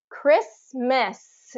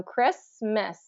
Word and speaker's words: Christmas: Christmas related vocabulary so Christmas is what um uh we tend to say how we tend to pron pronounce it so Christmas Christmas Christmas so first syllable stress um Christmas okay and